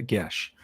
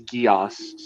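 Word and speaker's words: geas: you mean you're Celtic how can you not pronounce it a gesh I don't know I've only ever heard it pronounced as GEOS so because I've only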